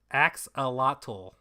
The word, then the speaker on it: axolotl: Axolotl. Oh, because it's Mayan and the X gets pronounced as a ch sound.